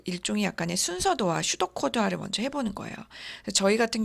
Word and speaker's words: pseudo: 또 다른 말로는 이제 의사코드, 슈도코드, 영어로는 PSEUDO. 여기서 P가 묵음이에요. 그래서 슈도코드 근데 P가 같이 있어야 돼요. 발음만 안 나요.